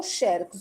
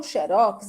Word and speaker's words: xerox: o xerox Pois é pronúncia de ou xerox ou xérox as duas pronúncias estão corretas viu as professoras estão corretas